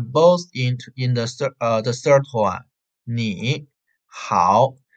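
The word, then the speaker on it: 你好: They are both in the third tone, ni, hao. So the first tone has to change into the second tone, ni, ni. So you have to say ni hao, ni hao, ni hao.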